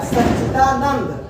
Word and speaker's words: सच्चिदानंद: अब क्या है, सच्चिदानंद, जबकि सच्चिदानंद, सच्चित बोलने में ऐसे लगता है उच्चारण जैसे द के स्थान पे त है, जबकि वहां पे क्या होगा, सच्चिदानंद। अध्ययन, अब ये शब्द देखिए,